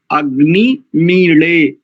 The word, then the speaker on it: अग्निमीळे: लेकिन हरियाणा में अधिकांश जितनी भी क्षेत्रीय भाषाएं उनके अंतर्गत काड़ा ऐसा, तो जो हरियाणा में काड़ा ऐसा प्रयोग है, बस वही इस अक्षर का शुद्ध उच्चारण है, अग्नि मीले।